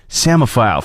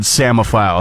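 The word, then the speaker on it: psammophile: know what the word samophile is all about uh to let you know how it is spelled p-s-a-m-m-o-p-h-i-l-e I heard the word before I saw it spelled so I immediately thought samophile I thought it meant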